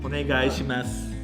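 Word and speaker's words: お願いします: For some reason, Ryan's always great at pronouncing it. Onegaishimasu.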